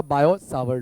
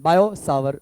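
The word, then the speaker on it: Biot–Savart: मैं यहां टाइटल लगाऊंगा बायो स्वर लो ओके यहां पर साइलेंट राहत है जब हम प्रोनाउंस करते हैं उसको तो ठीक है सा रहेगा साइलेंट बायो स्वर लो राइट अब बायो और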